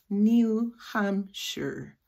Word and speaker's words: New Hampshire: Y es la schwa, New Hampshire, sure.